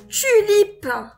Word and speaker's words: tulipe: Une tulipe. Donc, le mot tulipe est composé de trois syllabes. Tu, li, et peu. Mais puisque peu, elle est vers la fin du mot, on prononce pas le E.